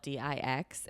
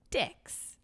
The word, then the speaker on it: dix: And 10 is dough or duh, but it's spelled D-I-X. And he was just like, dicks. And the teacher was like, and that's why we don't pronounce it like that.